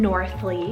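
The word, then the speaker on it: Northleey: was loving it so this is the name northly spell n-o-r-t-h-l-e-e-y an amazing l-e-y ending added on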